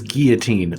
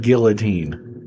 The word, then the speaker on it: guillotine: It is guillotine, not guillotine.